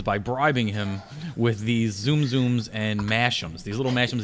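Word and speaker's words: Tsum Tsum: How do you say TSUM? TS is like a Z. Oh, Zoom Zoom.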